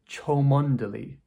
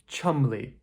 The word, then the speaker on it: Cholmondeley: This is pronounced Cholmondeley, Cholmondeley Nope. It's pronounced "chumlee". Chumlee. I think we're missing about 90% of the letters in this word, right?